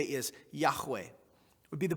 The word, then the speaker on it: Yahweh: they would what they would simply say is Yahweh it would be the pronunciation pronunciation Yahweh now in English when we look at a